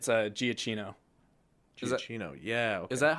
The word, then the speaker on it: Giacchino: It's Giacchino. Giacchino. Yeah. Okay. Is that how you pronounce that?